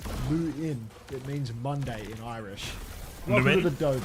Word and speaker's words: Luan: By the way, Luan for Ireland is pronounced Lu in.